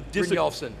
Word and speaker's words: Brynjolfsson: whose last name I can't pronounce, and they actually Brynjolfsson.